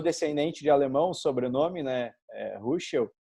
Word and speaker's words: Ruschel: Ruschel. Nos Estados Unidos, Rochelle, eles botam um stress, né, na sílaba final.